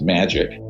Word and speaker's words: MAJIC: the majority intelligence committee majic is pronounced magic ironically or not ironically